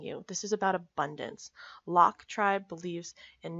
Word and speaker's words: LOC: equalize out that balance now Locke is pronounced Locke because you're locking your future in place with this habit I very much connect